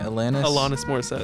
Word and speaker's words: Alanis Morissette: Alanis Morissette.